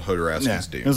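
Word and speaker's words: Jodorowsky: How do you say his name again? Hodorowski. Hodorowski, okay. And the documentary being like the sort of exploration of what happened to his version of Dune.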